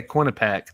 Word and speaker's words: Quinnipiac: Dang, Quinnipiac? man. Quinnipiac? Is that how you say it? Yeah, Quinnipiac.